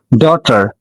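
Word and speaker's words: daughter: সামঞ্জস্য কিনা আমাকে অবশ্যই জানাবা এবার আসো এই উচ্চারণটা অনেকেই ভুল করবা এটা হল ডটার কি বললাম ডটার উইড ডটার ওকে বানান শিখ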